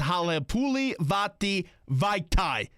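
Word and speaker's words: Halapoulivaati Vaitai: That's Halepuli Vati Vaitai. That's how you pronounce it.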